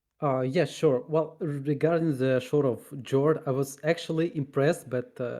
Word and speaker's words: Shore of Jord: So okay, you pronounced it Shore of Jord, and I've been pronouncing it Shore of Jord like a proper commoner.